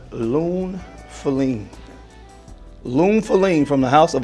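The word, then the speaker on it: Lune Féline: Lune Feline from the house of Atelier des Sores is how you pronounce it.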